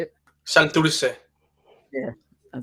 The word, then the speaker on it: Santurce: Santurce.